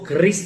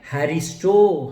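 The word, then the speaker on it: χάρις: जो नोट्स लिख रहे हैं वो लिख लीजिए, स्पेलिंग है CHARIS। पढ़ने के समय उसको क्रिस नहीं पढ़ना है, उसको हैरिस पढ़ना है। उसमें भी C साइलेंट है, HARIS, हैरिस।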